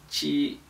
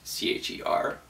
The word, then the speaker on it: 吃: So again, it's qi. 吃 One final note about this word, and that's it. I've seen a lot of people suggest that you pronounce it CHER. I think honestly this is a bad idea. The reason for that is because not only is the R sound in Chinese one of the hardest sounds for native English speakers